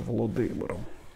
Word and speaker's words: Володимир: из володимира на Клязьме нужно говорить правильно город назывался володимиром по имени своего основателя владмира Мономаха вот что летопись пишет